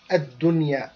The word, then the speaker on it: الدنيا: في الحياة الدنيا الدنيا as we said before do you remember إظهار مطلق yes بارك الله فيك إظهار مطلق so the noon here will be clearly pronounced الدنيا ولعذاب الآخرة أكبر لو